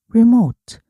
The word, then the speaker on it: remote: the remote remote 원격 조정기가 여기서이는이 발음이 났어요. 그래서 rem 아니고 remote rem리 remote 원래는 rem컨 control이에요.